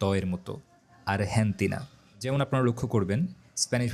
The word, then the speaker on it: Argentina: Letter জি রয়েছে সেই জি এর পর যদি ই অথবা আই থাকে তবে সেক্ষেত্রে সেই জি এর উচ্চারণ হয় ইংলিশ লেটার এইচ এর মত। এজন্যই কিন্তু আর্জেন্টিনাকে আরহেনা বলা হয়।